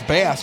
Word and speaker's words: Bass: the eighth and then you can pronounce bass B has his bass like a base guitar yeah you play guitar